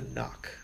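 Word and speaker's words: Noq: the new one Armada knock that's n o Q and the knock this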